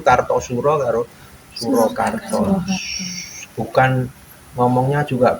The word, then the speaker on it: Kartasura: Karena kelenteng ini dulu perpindahan dari Kartasura ke Surakarta atau Surakarta. Sebenarnya bacanya yang benar itu Kartosuro karo Surakarta.